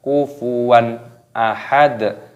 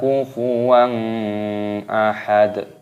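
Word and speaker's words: كفوا أحد: yang keluar dari tenggorokan kufuwan Ahad jadi jangan dibaca kungfu uang Ahmad tidak boleh itunya kufuwan ahad ahad dokternya berharap tentu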